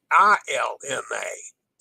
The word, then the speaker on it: Ilma: Yama is the way I'm guessing this is pronounced the spelling is oh it's i i l m a illness illness flowed out Elma I thought it was llma and I I tried looking that up this